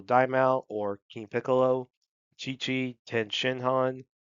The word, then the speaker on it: Tien Shinhan: or King Piccolo, Chi-Chi, Ten Shinhan, or some people like to pronounce it Tien Shinhan, Piccolo Jr.